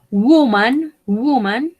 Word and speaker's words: woman: Tenemos el ejemplo de woman, mujer. Acá esta O se va a pronunciar como una U.